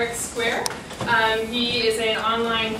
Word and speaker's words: Squair: thanks as JY mentioned my name is Square yes that is the right way to say